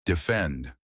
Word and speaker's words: defend: Defend. Defend. Two syllables. Stress on the second part, defend.